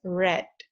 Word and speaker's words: read: is even though this it has the same spelling but it is pronounced as read run is also run